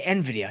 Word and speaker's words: Nvidia: correct here that Nvidia some people say it wrong they say Nvidia it's Nvidia is NVIDIA in the Dow